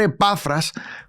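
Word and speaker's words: Epafrás: que epafras y y tengo que mencionar epafras con acento en la a eh en la última a eh pero lo he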